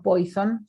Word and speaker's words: Poisson: De Poisson sí hay tablas, de Poisson o Poisson, se puede pronunciar en verdad de francés.